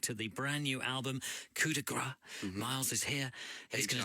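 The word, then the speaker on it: Coup de Grâce: So Coup De Grace, that's how we're pronouncing the title.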